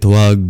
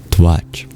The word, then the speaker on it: tvac: Dehantare Tvac vibhagam bhitti bhutam vichintayet na kinchid antare tasya dhyaya na dhyeya bhag bhavet.